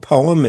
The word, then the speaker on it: POEM: And there's a procedure that I've read about called I think it's called POME.